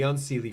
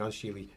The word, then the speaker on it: Unseelie: when we're looking at the Seelie and the Unseelie, for example, or the Sheelie and Unsheelie, depending on which pronunciation you prefer, they would be better